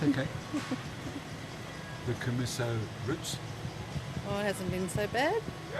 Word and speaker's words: Commisso: What do you pronounce it? What? Go Troppo? No. No, which male business? Oh, Commisso. Commisso.